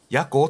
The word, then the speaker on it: 矢向: 経ったなはい夜に向かうと書いてヤコって読むんです死にそうなん